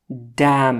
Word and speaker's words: damn: Next one Damn it. لعنت شه یا لعنتی. Damn it. ان چې دی سایلنٹ دی ان نه تلفظ کیږي.